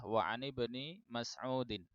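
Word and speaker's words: وعن ابن مسعود: sini pertama ini bacanya yang lebih tepat adalah wa'ani bani Mas'udin. Kenapa? Seperti tadi, ini hamzahnya ya seperti imra'ah tadi, ini hamzahnya adalah hamzah wasal. Hamzah wasal itu selalu mati ya, mirip dengan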